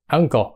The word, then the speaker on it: uncle: chữ you đúng không uncle nhưng mà cái Du đó đó nó lại phát âm nó là gì dòm vô Phát âm đ đỏ ipa đó nó là nửa á nữa ớ đúng không Tức là á á rồi mới cái âm ngờ ngờ đó là un uncle Đúng chưa uncle thì là